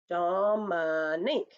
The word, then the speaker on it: Dominique: like for example in my name um dominique instead of putting up a finger for every syllable they have to keep it in their head and go dom nick in that way they're